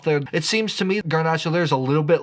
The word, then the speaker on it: garnacha: gach is the same we know it mostly As ganach although it probably should be pronounced garnacha because the home of garnacha is Spain the kingdom